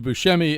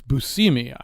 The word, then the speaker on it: Buscemi: Everybody is very suspicious of everybody else, and everybody is very eager I just got told I mispronounced. It's Buscemi.